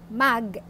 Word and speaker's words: mag: just have to add the word mug which is M AG this is pronounced as mug before the base form